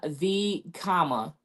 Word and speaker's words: VKOMAH: We pronounce his name V comma, as in COMMA V comma.